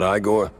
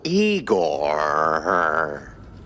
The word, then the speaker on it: Igor: Igor, not Igore. No, Eigor.